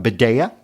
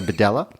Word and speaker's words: Bedella: L's in it it could be a a badea but it's not it's a badela he's he's well known in England he's an